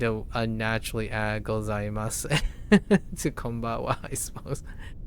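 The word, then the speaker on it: こんばんは: unnaturally add gozaimasu to konbawa, I suppose. You may have noticed that the final kana pronunciation is wa, yeah. For it is written with the character ha, not wa, right?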